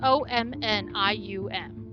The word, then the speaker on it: omnium: cap I'm pronouncing that as best I can it's spelled o-m-n-i-u-m omnium I'm assuming long open the door I